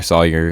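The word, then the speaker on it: Saoyhr: You can find me on any social media that you can think of at s a o y h r, Sawyer. It's spelled like a Hyrulean. Make fun of me if you want to.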